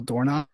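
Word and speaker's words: Dornoch: And then, uh, Royal Doorn, it's coming. Oh, nice. That's how you pronounce it.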